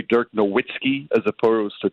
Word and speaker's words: Dirk Nowitzki: But, sometimes it gets caught up in the American way to pronounce it. And there's still some people that say Dirk Nowitzki as opposed to Dirk Nowitzki.